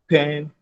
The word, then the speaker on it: Penn: Just go to Penn World Table. Penn World Table. Penn is spelled P-E-N-N. P-E-N-N. That is pen.